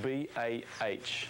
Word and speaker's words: bah: And it's spelt B-A-H, and it's pronounced bah.